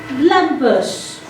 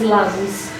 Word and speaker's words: lambs: Lambus. The B is silent. The word is lambs.